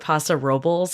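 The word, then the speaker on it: Paso Robles: St Louis abiso and Passa robbles I've learned that's how you pronounce it not Rob which is what I and everyone else calls it which is basically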